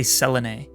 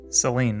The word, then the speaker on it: Selene: of the window I don't know how to pronounce this so we're going to say Selen because that seems correct Selen Seline Seline that's not the way I would have said